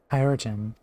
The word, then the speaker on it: Chirurgeon: I have also been pronouncing that wrong too. Chirurgeon.